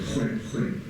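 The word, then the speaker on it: Khoikhoi: Or maybe in my sort of world, khoi khoi, or properly pronounced this way, khoi khoi.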